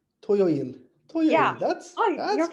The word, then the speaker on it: 토요일: 토, To, 요, yo, 일. toyoil.